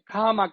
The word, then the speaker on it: Kamak: Bueno, tenemos que tener en cuenta que Kamak realmente es Kamak, con el acento en la A, en Proto-Chukotno Kamchatka, y que esa A es una A breve por el acento, pero que también es una A velar.